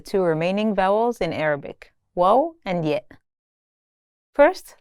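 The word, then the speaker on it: واو: In this lesson, you'll learn the two remaining vowels in Arabic, wo and yet. First, let's start with wo. This letter sounds like the English U in the word tune.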